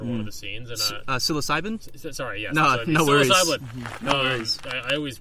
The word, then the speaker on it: psilocybin: got he gave the the the cast uh psycho siblin mushrooms for for one of the scenes and psilocybin sorry yesin wor I always mispronounce that word um psycho siblin yeah wow